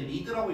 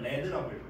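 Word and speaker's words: lead: 그래서 그 독성이 중금속이 리드는 나비예요 원래는 이제 리드라고 읽지 않고요 레드라고요 레드 그래서 레드 아 그리고 아연 쿼터는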